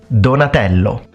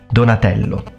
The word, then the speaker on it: Donatello: now the next turtle is going to be Donatello donello Donatello so let's check out his full name Donatello